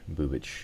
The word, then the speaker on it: Bubich: And I just heard that it's Bubich. Bubich is the correct pronunciation for the pitcher.